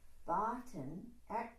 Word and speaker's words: Batin: During the inhalation, say Batin, accent on the first syllable.